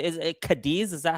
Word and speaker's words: Cadiz: That's the way I pronounce it. Kad. All right. Well, that's the way we're going. Kadis. Kadis.